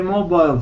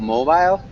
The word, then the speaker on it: mobile: refuse to own a mobile phone. Nice. Really good job. One small point about mobile. Mobile is definitely the British pronunciation. In the United States, we'd say mobile.